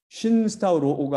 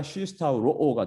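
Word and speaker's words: συσταυρόω: 이것이 딱 붙었는데 이거 발음하기 좋게 다음에 오는 말을 더 발음하기 좋게 마지막에 붙은 니라는 게 탈락되면서 쉰스타우로오가 아니라 쉬스타우로오가 됩니다.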